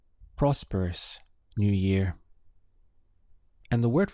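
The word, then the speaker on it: próspero: word for prosperous is Prospero notice that we have an accent over the all so it's important that your pronunciation stresses that part of the word Prospero if you say Prospero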